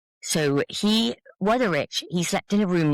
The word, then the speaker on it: Wutherich: his name was Gottlieb Wutherich, but it's a German W, so maybe he pronounced it Wutherich. So Wutherich, he slept in a room next to the temple.